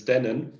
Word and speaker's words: Dennin: thank you so i i saw you struggling for my last name it's dannon that's easier to pronounce